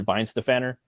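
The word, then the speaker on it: Weihenstephaner: favorite beer is from weinstephaner or they pronounce it Vines the fanner and they have a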